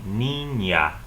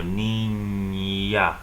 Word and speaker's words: niña: So this is the word for a little girl, niña. So it's pronounced almost like a Y is coming after the consonant N. So niña.